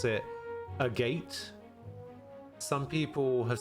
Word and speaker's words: Agate: go a lily necklace seeing as it's Japanese you will pronounce it Agate a japa yeah see that that was my first instinct as well my first instinct was to pronounce it agat um but yeah some